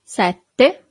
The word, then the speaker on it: sette: So you have a double T here. Sette.